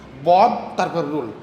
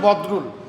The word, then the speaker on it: বদরুল: দেখছেন স্যার আমার নামটা সে কী করে উচ্চারণ করলো, বদ তারপর রুল, আমার নাম হচ্ছে বদরুল, তাহলে কি এটা ডাকলে দেখছেন, যা কইলাম সেটা কিন্তু সত্যি।